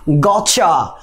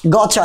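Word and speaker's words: gotcha: সি এইচ এ কন্ট্রাকশনে, তাহলে গট, তাহলে আমরা গটটা গট লিখি, জি ও টি সি এইচ এ, তাহলে কি হলো? গচ্ছা, কি হলো? গচ্ছা, ইউ থাকলে কি হয়?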